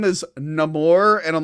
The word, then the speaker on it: Namor: The trailer when he went, my name is Namor, and I'm like, oh my god. If people tell me I have to pronounce his name like that when it's literally been Namor since the 60s, I'm going to lose my mind.